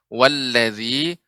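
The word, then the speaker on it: والذي: ya Ibu, ketika mengucapkan wallazi agak seperti terasa kayak tebal, walla ya, lebih ya tipis ya. Lam termasuk huruf yang apa bukan isti'la, maka dia istifal.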